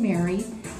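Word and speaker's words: Meagher: that is spelled Emison Mary e a g h e r and yes it is pronounced Mar very very interesting so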